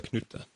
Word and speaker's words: Knytt: I pronounce it Knytt Stories because the word Knytt comes from an old Swedish book from the Moomin series that maybe you guys know about.